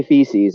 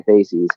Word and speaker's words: facies: I didn't want to say feces. I wanted to say facies.